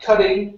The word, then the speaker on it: cutting: um this word here instead of C cing okay use an H sound cutting cutting and preparing cutting and preparing uhuh